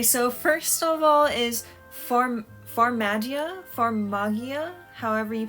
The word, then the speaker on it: Farmagia: Okay, so first of all is Farmagia, however you pronounce that. Farmagia, I think is how they were pronouncing it in Japanese, but I don't know if I should go with that pronunciation or not.